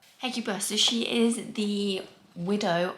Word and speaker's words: Hecuba: I'm going to look up how you pronounce that. Hecuba. Hecuba.